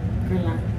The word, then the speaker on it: Guerlain: I like the one from Guerlain.